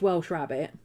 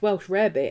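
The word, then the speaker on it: Welsh rarebit: to people that well welsh rabbit is not pronounced welsh rabbit and it's not rabbit it's pronounced welsh rabbit and it means it's cheese on toast yes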